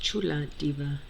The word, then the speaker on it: Chula Diva: It's pronounced Chula Diva Tarot.